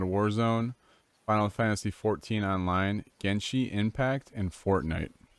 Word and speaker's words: Genshin: We have Apex Legends, COD Warzone, Final Fantasy 14 Online, Genshin Impact, and Fortnite. Genshi, is that how you said it? Genshin? Genshin. Sorry, bro.